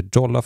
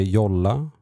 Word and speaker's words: Jolla: And today I'm going to talk about this um phone, the Jolola phone. I hope I pronounce it right. I would say Yola, but I also got